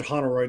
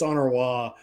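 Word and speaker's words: Honoroit: I said Honoroy because you said Honoroid. It's Honoroy.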